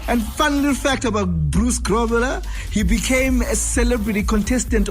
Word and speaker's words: Bruce Grobbelaar: Oh, so it's actually Bruce Grobbelaar. That's according to Pause coming through with the correct pronunciation.